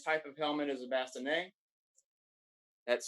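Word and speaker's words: bascinet: of helmet is a bassinet that's spelled n e b-a-s-s-e-n-n-e-t but the t is silent here's an explosion of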